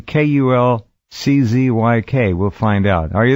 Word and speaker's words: Kulczyk: Kulczyk. We'll find out. Are you there, Konrad? Yes, I'm here. Good evening, Jeff. Good evening, everybody. Good evening. And did I pronounce it Kulczyk right?